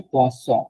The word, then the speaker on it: poisson: এই পোয়াসন এইটা, আরেকটা আছে পোয়াজন, একটা এস উচ্চারণ হচ্ছে পোয়াজন, এটা হচ্ছে পোয়াসন। পোয়াসন মানে মাছ, মাছ ফিশ। আর পোয়াজন মানে কিন্তু পয়জন।